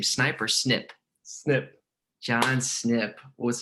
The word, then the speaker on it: Snip: john how do you say your last name sniper snip snip john snip what's up man i